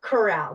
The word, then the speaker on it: Corral: help me coral Coral and first name is pronounced Eva actually Eva Eva Corral did I say it right yes perfect so